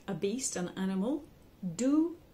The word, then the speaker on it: du: a beast an animal do d double O by b u y